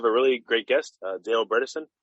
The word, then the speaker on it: Bredesen: really great guest dale bredesen he said his last rhymes with medicine which i think is